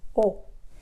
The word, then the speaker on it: を: EE Oh in Japanese it is actually pronounced as if it was just the letter O oh and then the second